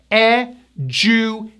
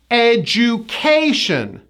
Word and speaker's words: education: I realize this word is spelled with a D, but we don't pronounce a D. We pronounce the D as a J, J.